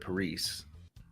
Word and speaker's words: Paris: We're going to bring in Pari Vega. I love your name, by the way, Pari. How are you doing? Thank you. And I usually pronounce the S at the end of it, Paris.